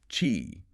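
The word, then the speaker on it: Qi: Chi pronounced chi is the dominant standard.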